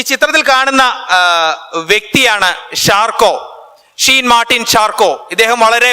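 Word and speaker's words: Charcot: അല്ലെങ്കിൽ ന്യൂറോളജിയുടെ അവസാന വാക്കായിരുന്നു ഷാർക്കോ ഷാർക്കോട്ട് എന്ന് നമുക്ക് സ്പെല്ലിംഗ് അനുസരിച്ച് വിളിക്കാം ഷാർക്കോ എന്നാണ് യഥാർത്ഥത്തിലുള്ള ഉച്ചാരണം എന്നാണ് ഞാൻ മനസ്സിലാക്കുന്നത് 1887ൽ ആൻഡ്രേ ബ്രോറ്റ് എന്ന്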